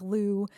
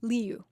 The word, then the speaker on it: Liu: They were saying like Lou and just like making it really basic. Liu.